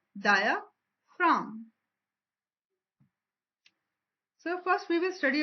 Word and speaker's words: diaphragm: As you can see, in diaphragm G is written in red color because it is silent word, and we will call it as diaphragm.